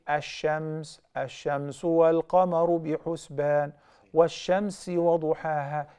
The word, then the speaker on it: الشَّمْسِ: In the word shams, you write the lam alif lam shim mim sa. Yet you do not pronounce it. So that's why I say ash-shams, ash-shamsu wal-qamaru bi-husban.